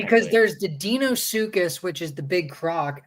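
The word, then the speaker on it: Deinosuchus: How do you pronounce it? Dino or Dino? Because it's the E before I, so I always say Dinosuchus. Yeah, no, you're right. It would be Dinosuchus. Or Danosuchus, technically.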